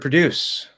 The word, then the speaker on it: produce: there next the word produce has a d between two vowels that is correct but it's not pronounced as a flap d it's pronounced as a regular d that's correct why that's